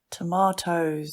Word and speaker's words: tomato: Tomatoes.